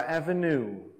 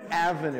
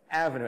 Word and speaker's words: Avenue: fica muito fácil falar Avenue. Avenue, daí você acaba... Avenue, daí você já começa um bigode assim e comendo crepes, sei lá. Mas é Avenue, a sílaba tônica é a primeira. Avenue, everybody, Avenue.